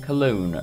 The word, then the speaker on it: Cologne: Cologne. Rhymes with alone.